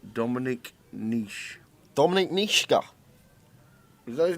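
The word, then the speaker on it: Nitsche: key i don't know that's how uh all the ept commentators pronounced it over the years n-i-t-s-c-h-e where's the key i don't know i'm pretty sure it's niska okay well anyway this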